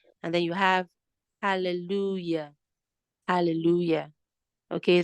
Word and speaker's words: hallelujah: then you have hallelujah hallelujah okay the Hallelujah the J letter J there is pronounced as y pronounced as y okay